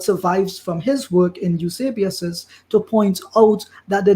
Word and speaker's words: Eusebius: Okay, so you pronunciation again, Eusebius? Eusebius.